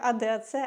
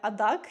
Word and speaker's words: ADAC: Ее для мене особливо було також те, що в принципі я дізналась більше про АДА і що воно вимовляється як АДАЦ, а не адак, як я думала до цього.